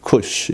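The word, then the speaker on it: כּוּשׁ: 여기 구수라는 건 뭐냐면 원래 히브리 발음으로 쿠쉬 이렇게 되는데 영어로 번역할 때는 이걸 에디오피아라고 다 번역을 해요.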